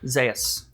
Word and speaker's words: Zaius: Zaius. Zaius. Is it like Dr. Zaius?